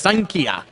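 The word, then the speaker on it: Xankia: west wall street and that is spelled XA n ki a so if you want some pho you're looking for XA n ki a pronounced sign Kia and we'll have a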